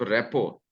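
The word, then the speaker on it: rapport: वो तो ये है कि the objective of today talk is to develop रेपो. यहाँ टी साइलेंट है, रेपो पढ़ता है, रेपोर्ट लिखते हैं लेकिन आर टी साइलेंट.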